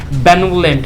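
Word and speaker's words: benevolent: Right pronunciation है बेनेवोलेंट, जैसा कि गिरी ने बोला। यहाँ पे इसको हम पढ़ते हैं बेनेवोलेंट, राइट।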